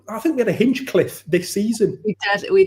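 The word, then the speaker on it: Hinchliffe: getting his name wrong I know some people still think he's called Ben Hing cliff in the Hing Cliff just in case you're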